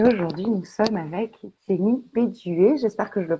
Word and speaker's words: Bedué: Et aujourd'hui, nous sommes avec Jenny Béduet, j'espère que je le prononce bien, de Ayurveda et vous.